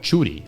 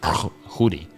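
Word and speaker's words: Tschudi: There was a guy called Chudy. I think his name was like T S C H U D. And if I know how Swiss Germans pronounce it, something like Hoodi.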